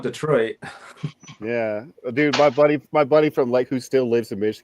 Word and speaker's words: Detroit: It's not Detroit, it's Detroit.